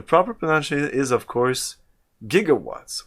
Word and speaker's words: gigawatts: potential is of course gigawatts with a hard g sound that's what you thought right bass and what bob zimmerkiss and i were doing research we talked to somebody who mispronounced it jiggawatts and we were actually